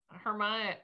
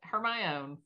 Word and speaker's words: Hermione: looking at it yeah i would be like hermione her my own yeah i did not pronounce it right until there's movies oh like when i